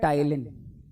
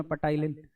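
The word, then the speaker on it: ptyalin: टाइलिन क्या बोलते हैं टाइलिन पी साइलेंट हैरे यहां पे याद रखियो बाद में आ जाते है भाई साहब बालक हम छाती टोकता हमारे पास पटाइन क्यों नहीं पढ़ाया मास्टर तने पटाइन वो पटाइन नहीं है टाइलिन है हमारे पास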